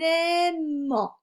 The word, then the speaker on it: aimant: Un aimant. Je fais la liaison. Le T est muet.